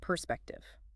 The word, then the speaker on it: perspective: Emphasis on the second syllable there, perspective.